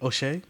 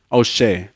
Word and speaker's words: O'Shea: okay how do you say how do you spell that name oh shay oh shea like o-s-h-e-a yes oh okay oh apostrophe s-a-t-a